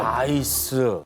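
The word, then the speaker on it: NEIS: 이거 나이스라고 읽어야 되는 거죠? 나이스.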